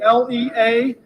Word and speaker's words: Leazenby: it's pronounced. And last name's Lesenby, Leazenby.